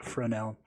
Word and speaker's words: Fresnel: node that's weirdly spelt it's spelt like fresnel but the s is silent so it's just fresnel and then with the